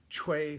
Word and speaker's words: Choi: that is about General Choi Hong-hee, or as we often called him before we knew any better, General Choi Hong-hee. I understand the actual Korean pronunciation is something more akin to Choi.